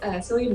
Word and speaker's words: Cillian: But no, has to do with Cillian Murphy, I believe is how you pronounce his name.